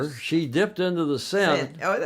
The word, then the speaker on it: Seine: Seine or Seine? It depends on who you are. Well, if you're a croutonic I think American, Seine. Seine, right? To try to pronounce things in France, in French, if possible.